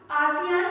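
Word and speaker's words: ASEAN: आसियान का pronunciation एशियन भी हो सकता है।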